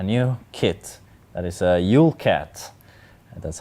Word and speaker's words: Jûlkat: we have a new kit that is a ulat that's how you pronounce it it's a Danish Recon vehicle so